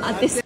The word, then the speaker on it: ate: L'accento sulla E. Ate.